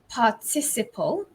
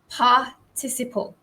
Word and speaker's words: participle: or ed or enn in british english it's the stress falls on the second syllable so it's participle so let's do that